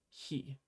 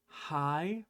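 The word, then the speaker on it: へ: Pretty simple, just he. When you write it out in English letters, it might look like hi, but it's not. Remember, it's he.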